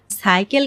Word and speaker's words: সাইকেল: কিন্তু সাইকেল কেন দন্তস উচ্চারণ করলাম? আসলে এটির কারণ হলো সাইকেল একটি বিদেশী শব্দ। তাই এখানে দন্তস এর উচ্চারণ অবিকৃত থাকছে।